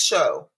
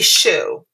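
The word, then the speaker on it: Pescheux: is divine veneer by olivia's show i think that's how you pronounce it p e s c h e u x p show i think daniel i've never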